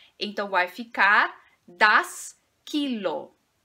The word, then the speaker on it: Kilo: Em relação à pronúncia, nós vamos enfatizar a primeira sílaba desta palavra. Então, vai ficar das Kilo, das Kilo, das Kilo.